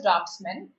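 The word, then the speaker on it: draughtsmen: Okay, so there is a U here, but it's pronounced as draftsmen.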